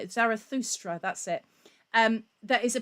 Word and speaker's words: Zarathustra: And then you've got, and I can never pronounce this correctly, but you've got Strauss's Also sprach Zarathustra. I can never say it. Zarathustra, that's it.